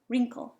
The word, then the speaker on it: wrinkled: this one is Waring oh maybe it's a silent w rink take the IDI off a minute just wrinkled wrinkled all right now I'm